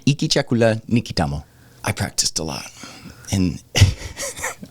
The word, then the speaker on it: Hiki chakula ni kitamu: is good, And so this is how you say it. You ready? Iki chakula nikitamo. All right. That's how you say that. All right. Iki chakula nikitamo.